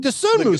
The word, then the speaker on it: Dosunmu: Do you have what's your and I'm gonna pronounce it wrong? Is it Dosunmu? Dosunmu.